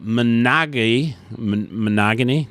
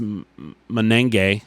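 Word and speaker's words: Monangai: Kyle Monagany, it's just Menenge.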